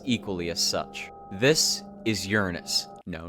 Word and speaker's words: Uranus: the most ominous appear the official name is Uranus Uranus pronunciation yeah look Uranus how do you read it Uranus the official Pro it is Uranus Uranus but they always say Uranus because then it doesn't sound like anus um but I like